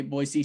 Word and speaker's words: Boise: Hey, Boise State fans, we're saying it correctly for you too.